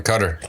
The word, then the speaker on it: Qatar: now made it to can you actually uh say the pronunciation for me i tend to get it wrong is it cutter okay we're in cutter katar cutter cutter that's what